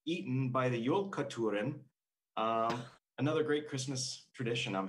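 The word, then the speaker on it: Jólakötturinn: And I have to look because I have to figure out how to pronounce it. It is Jolakoturen, Jolakoturen.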